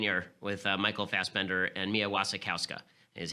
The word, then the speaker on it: Mia Wasikowska: So if you're into this sort of thing, very good production of Jane Eyre with Michael Fassbender and Mia Wasikowska is how it's pronounced.